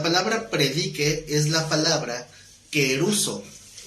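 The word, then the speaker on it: kerusso: La palabra predique es la palabra queruso, con K de kilo y con doble S, queruso con acento en la U.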